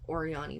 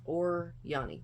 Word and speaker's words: Oryany: So I believe it's pronounced Oryany because when I've seen it written out, the O-R is small and then the Y-A-N-Y is large. So I think it's Oryany, but it may be Oryany.